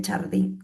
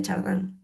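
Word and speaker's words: Chardin: leer un texto de Tayard de Chardín de Chardá, bueno, ¿cómo se pronuncia en francés?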